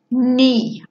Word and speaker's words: knee: have a look at words with silent letters mmm like in nah Oh knee or in nah unknown